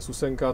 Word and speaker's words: Susenka: Byl takhle pojmenovaný, vyslovně Susenka, tečka, většinou dílka v bajtech.